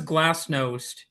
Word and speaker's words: glasnost: And so just for the people who will be reading this or maybe viewing this, what was Glasnost? Am I pronouncing that correctly?